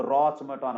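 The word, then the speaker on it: roche moutonnée: इसको रासमुटानो, ROCHE, ROCHE, मोटानो, MOUTONNEE, बड़ा technical spelling है।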